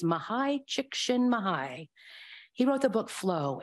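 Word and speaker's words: Mihaly: will tell you anything I thought it was mahali or mahali shishkin mahalin and I thought that that was pretty good pronunciation but I looked it up and I listened and it's mahai he wrote the book flow and some others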